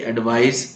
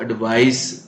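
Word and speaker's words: advice: है दो वर्ड है जैसे एडवाइस एक एडी वी आई सी इसको एडवाइस प्रोनाउंस करेंगे एडवाइस रिकमेंडेशन सलाह और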